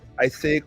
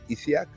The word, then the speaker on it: Isiac: I know most people are going to pronounce it Isaic, which is incorrect because the I precedes the A, which means it should automatically be Isiac, right?